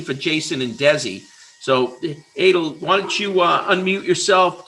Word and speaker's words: Adel: And then just quick little, it's pronounced Adel. Just, you know, I had to just kind of, people mess it up all the time.